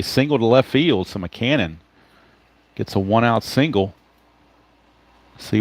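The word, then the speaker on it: Mackanin: Mackinnon, but it's officially McCannon. That's how the media pronounces it, so I'll go with it. It's McCannon. Like Ma, like your mother, and cannon, like you're firing off a cannon.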